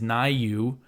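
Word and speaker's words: Niue: and the other is nayu which I might be pronouncing wrong I meant to double check how to pronounce that it's spelled n-i-u-e so nayu is a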